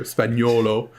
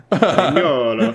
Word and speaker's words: Spagnuolo: I pronunciated that very hard there, Spagnuolo. Spagnuolo.